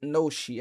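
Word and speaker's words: ノシ: Most people pronounce it noshi after the reading of the Japanese letters used.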